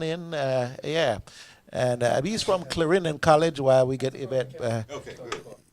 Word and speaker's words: Clarendon: you also have a celebration coming up with Clarendon College, right?